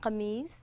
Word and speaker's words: kameez: Kameez. It's like the French chemise.